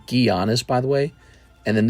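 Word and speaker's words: Giannis: away here's Bradley Beal Alli mcbi here's is pronounced gianis by the way and then this is pronounced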